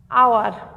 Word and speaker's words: hour: শব্দের প্রথমে যদি এইচ থাকে তাহলে শব্দের প্রথমে যদি এইচ থাকে এবং এইচের উচ্চারণ হয় না, তারপর থেকে উচ্চারণ হয়, সেখানে আর্টিকেল এন বসবে। আবার যথা, এটা একটু বলে দিই, যেমন আওয়ার, HOUR, এখানে এন বসেছে।